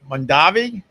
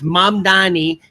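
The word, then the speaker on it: Mamdani: So, uh Mandavi. M. Am I going to have to say his name every morning? Italian. It's It's Mam Dani.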